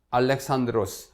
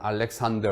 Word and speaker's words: 알렉산드로스: 제국의 제국을 3 건설한 알렉산드로스 우리 흔히 말하는 알렉산더 10 얄 예산 대도 에 영어를 우리식으로 이루는 것이기 때문에 요즘 교과서에는 알렉산드로스 라고 헬라 1 발음 그대로 비슷하게 됐고 있습니다 그래서 알렉산드로스 라고 얘기합니다 이 알렉산드로스 대왕이 아주